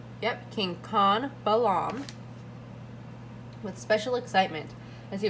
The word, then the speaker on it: Chan Balam: Yep, King Khan Balam, with special excitement as he was carried to the foot of a pyramid.